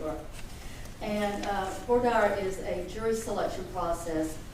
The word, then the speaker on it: voir dire: Some people pronounce it voir dire. You may hear both phrases. It sort of depends on where you went to school, and I went to Georgia, so it's voir dire where you are.